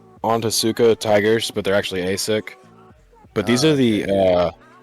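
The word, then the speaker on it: ASICS: Those are AS6.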